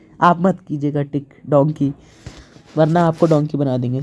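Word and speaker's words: Danke: होता है थैंक यू को बोलते हैं हम डांके डांके कोई पहली बार सुनेगा जिसे ना आता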